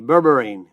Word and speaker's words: berberine: be like boy e r i n e berberine it's an herb well I shouldn't say it's